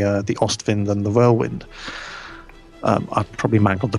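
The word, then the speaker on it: Wirbelwind: example have the uh the ostwind and the Whirlwind um I probably mangled the pronunciation there so just every WC pronounced with a V verbal vent oh domination oh right okay Domin um and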